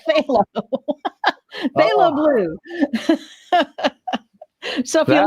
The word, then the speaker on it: phthalo: It sounds like you're It look spelled like you're spitting, but it's called phthalo.